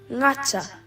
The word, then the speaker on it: gata: G is pronounced like ng in singer. Ngata.